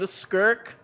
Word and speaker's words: Skirk: This is This character is named Skirk who rhymes with twerk.